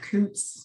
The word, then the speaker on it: Coutts: I was like, okay, my last name does not look how it sounds, like Coutts. Like, it does not look like Coots.